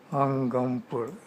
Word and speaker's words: Angampora: Okay, how do you pronounce it? Angampora.